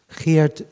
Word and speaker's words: Geert: And another question, just because you come from the Netherlands, is the Geert, is that how you pronounce it?